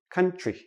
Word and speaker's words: country: When we have TR, TR together usually sounds like CHR. So we don't say country. We say country.